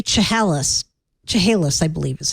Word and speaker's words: Chehalis: a town in California surface Studio 3 Chehalis Chehalis I believe is how they pronounce it as a town in Washington State